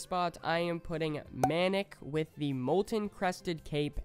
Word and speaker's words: Manic: embarrassed - clintus also the skin is actually pronounced manic the amount of people that are like no it's pronounced maniac maniac has an a between the eye and the